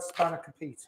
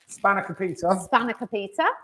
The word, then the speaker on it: Spanakopita: We've had a chat about this before we went live with the cook along, because this recipe Simon calls Spanakopita. Because I'm very English and I pronounce all the letters.